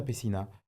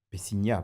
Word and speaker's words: Peciña: Pessina, Pessigna, parce qu'il y a le fameux accent sur le N, donc si on veut bien le prononcer en français, parce que maintenant, aujourd'hui